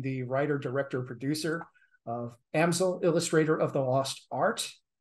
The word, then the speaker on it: Amsel: is pronounced Amazon so think about artist easel easel amsil um but uh even